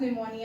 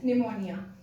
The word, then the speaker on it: pneumonia: am saying it as pneumonia. Actually the P here is silent, so this is known as pneumonia.